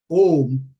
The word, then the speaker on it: Om: But in this context, it's important again to know that Om has three syllables. A, U, Ma.